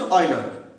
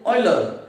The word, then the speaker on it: Euler: and great mathematician ऑयलर EULER EULER पढ़ी माने ता प्रोनाउंसिएशन अछि ऑयलर हला से already देखथले जे you should it like this pronunciation A type रो हबो बोली कहले आणि एटा को हम कोन पढ़छे O I L दा ऑयल ऑयलर हला सो you should pronounce this one like this ऑयलर बोली हला एंड ऑयलर